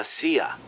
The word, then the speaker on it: CIA: goes how to pronounce c-i-a you kidding me really around here they say la sia instead of c.i.a huh um nothing strange about it that's how it's pronounced when you read it in spanish it has the feminine